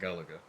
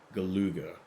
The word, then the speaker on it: Galuga: Yes, they have the original Contra bundled in with Operation Galaga. Galuga, I think it's supposed to be pronounced.